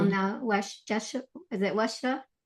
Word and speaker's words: Yeshua: You call now Yeshua. Is it? How do you pronounce that? Yeshua.